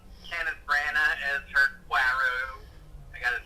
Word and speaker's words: Poirot: I like Kenneth Branagh as her Poirot.